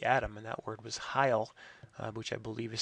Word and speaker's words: hyle: He actually had a word that would sort of be the counter to the atom, and that word was hyle, which I believe is spelled H-Y-L-E.